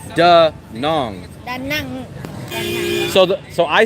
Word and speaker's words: Đà Nẵng: Đà Nẵng.